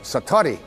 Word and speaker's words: Satori: out whose excuse my Japanese but it's called Satori I'd love to say that Satori SAT Ori